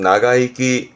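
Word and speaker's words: 長生き: 발음은 나가이기, 나가이기.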